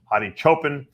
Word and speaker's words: Hadi Choopan: Olympia lineup and obviously hotti chupan or chopan if is what I'm being told Milo tell me is the right way to pronounce it hotti Chopin is the reigning Mr